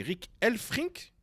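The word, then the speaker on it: Rik Elfrink: Donc, Yohan Bakayoko et les droits du PSV, c'est le journaliste, alors tu me diras si je me trompe dans la prononciation, c'est Rick Elfrink. Je suis bon? C'est ça. Voilà, parfait.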